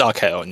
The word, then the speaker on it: Archaon: Did I say it right that time? It's Archaon, yeah.